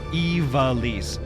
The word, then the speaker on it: Ivalice: Ivalice.